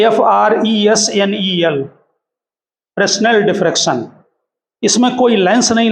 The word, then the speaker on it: Fresnel: हम जो पैटर्न बनता है डिफ्रैक्शन का उसे फ्रेस्नेल टाइप बोलते हैं। ठीक, स्पेलिंग FRESNEL, फ्रेस्नेल डिफ्रैक्शन।